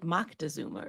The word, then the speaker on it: Moctezuma: I want to say Montezuma. Montezuma. That's not it. Is it? It's like Moctezuma or something.